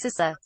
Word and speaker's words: CISA: um set s sisa seriously it's not that hard it is pronounced sisa with that out of